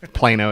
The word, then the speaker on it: Plano: very nice A little plant now yes might pronounce this for me Plano Texas planet planno planet that's Plano it's just chemistry for us uh Houston Texas